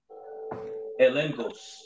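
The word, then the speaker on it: ἔλεγχος: When you go to the word evidence in the Greek, it's pronounced elengos.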